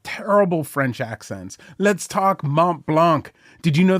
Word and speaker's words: Mont Blanc: French accents let's talk Mont Blanc did you know the French don't pronounce the c m Blanc why don't we let